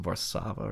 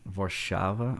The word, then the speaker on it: Warszawa: Apparently, part of my family is from, I think, Warsaw, which I think is properly pronounced Warszawa or something like that.